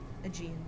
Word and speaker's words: Aegean: How do you pronounce it? Aegean.